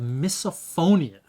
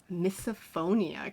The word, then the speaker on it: misophonia: it's oh it's called misophonia misophonia can you spell that so miss as in Mis okay it's Mis not my I'm pretty sure it's Mis o letter O phonia phonia so so it's when